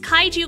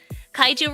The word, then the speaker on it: kaiju: Kaiju rhymes with waifu after all?